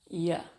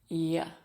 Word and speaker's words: you're: It's just a Y and a short vowel sound in the middle of the mouth. Y. Y.